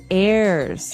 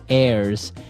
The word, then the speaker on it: heirs: pod and to his heirs is our next word what is an heir now if you notice the H is silent there so his heirs and that those are